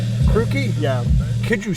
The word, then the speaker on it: Krooki: I go by Krooki. Krooki? Yeah. Could you spell that?